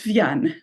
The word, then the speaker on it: Vianne: Vienn. In French, it's Vienn, but you can pronounce it any way you like.